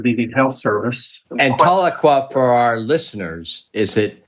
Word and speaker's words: Tahlequah: I grew up in Tahlequah, Oklahoma. This is hometown for me. And after graduating from residency, I decided to return here to work and working with the Indian Health Service. And Tahlequah, for our listeners, is it fair to call